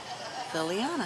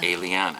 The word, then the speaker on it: Eliana: And my son's girl's name is Liliana. Eliana. Eliana. Yeah. Eliana. And that's spelled with an E.